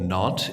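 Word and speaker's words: Nantes: people that it's a city called not because everyone's like not not what not it's spelled NES kind of right spelled NES it's it I don't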